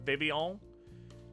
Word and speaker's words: Vivillon: But yeah, I always pronounced it like that because that's kind of like a French-ish thing to have, like...